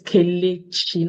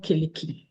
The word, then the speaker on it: Kelechi: My name is Kelechi, not Keleki. Kelechi. Kayleigh, sorry. Yes, Chi, yes.